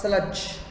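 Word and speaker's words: sludge: आलसी थे anger Busa स्लज स्लज माने होता है कीचड़ या मड सलज माने होता है कीचड़ या मड याद कैसे करेंगे सल्लू इसमें मैं डी को साइलेंट रख रहा हूं।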